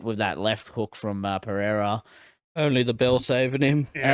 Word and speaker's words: Pereira: Hey, you didn't say Pereira like the Americans say it. Pereira. Pereira.